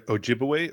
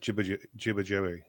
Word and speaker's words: Ojibwe: Is there a Ojibwe or is it Jibbajawe?